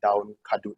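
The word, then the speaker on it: daun kadut: Arista says, nobody in my wet market knew what down kadut was. Is that how you pronounce it?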